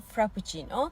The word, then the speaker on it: frappuccino: va nia vanila vanila Muhtemelen Türkçe düz a ile söylediğimiz cappuccino frappuccino Açık a ile okunuyor cappuccino frappuccino en sevdiğim çay Latte